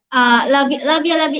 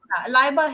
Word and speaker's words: Laiba: Labia, you have to unmute your mic. Yeah. Okay, okay. Now completely So, clear. Laiba here, Laiba. It is Laiba.